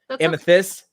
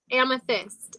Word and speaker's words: Amethyst: um what can amnes i've been saying your name wrong amethyst amethyst amethyst like i got a mic i got like like mike tyson it is amethyst i'm putting fist in it it's because you're so